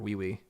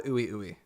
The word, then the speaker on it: Ui Ui: But at some point, it's pronounced wee wee. Is it? Well, I call the ooey ooey, to my shame. I was told multiple times that it is called wee wee, so that's what you're gonna hear in the next video.